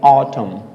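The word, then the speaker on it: autumn: अगला वर्ड यहां पे वही है कि लास्ट में हमारे पास क्या है, एन है, उसके पहले क्या है, एम है, तो सेम वही चीज है, यानी कि एन को हमें प्रोनाउंसिएट नहीं करेंगे, इसे क्या पढ़ेंगे, ऑटम, क्या पढ़ेंगे इसको, ऑटम, क्या पढ़ेंगे इसको, ऑटम।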